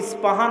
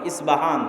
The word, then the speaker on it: ইস্পাহান: আমরা প উচ্চারণ করি ইস্পাহান, আরবিতে এটা উচ্চারণ হয় না, আরবিতে হয় আল আসবাহানি, বা উচ্চারণ হয় ইসবাহান বা আসবাহানি। সেখান থেকে ৭০,০০০ ইহুদি দাজ্জালের